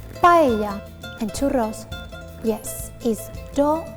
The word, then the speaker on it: paella: And no, it's not pronounced paella, it's pronounced paella.